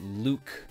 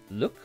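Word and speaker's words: Luc: right Luke look so it's not Luke it's look I just kind of pronounced it French look look called a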